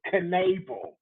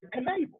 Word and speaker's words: Knebel: And save goes to Corey Knebel.